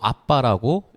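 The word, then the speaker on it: ἀββά: 그러니까 알파벳으로 따지면 APPA라고 해가지고 발음도 아빠라고 읽혀져요. 우리나 이제 한국어랑 똑같죠?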